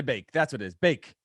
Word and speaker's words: Van de Beek: Bake, not Beek.